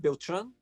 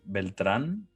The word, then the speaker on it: Beltran: say your name right Bill Tran uh well if you want to pronounce it correctly in Spanish it's actually Beltran but I give all